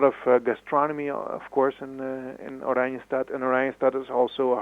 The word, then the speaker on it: Oranjestad: The capital city, I think you said it's pronounced Oranjestad? Yes, that's correct. Orange City. Orange City.